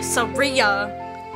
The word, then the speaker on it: Saria: with me anytime Saria I want to say Saria Saria yeah Saria like SOS oh my God I